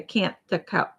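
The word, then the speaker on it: Kantha: she just did a can't the Cana quilt and she was saying can't the but I looked it up and it's can't T they don't pronounce the h because I was like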